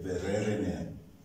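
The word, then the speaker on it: Vereeniging: But in Afrikaans, the letter V is pronounced as F. F. So when we went to South Africa and we're staying in a town called, in English you say Verere, Verereneer, but in Afrikaans it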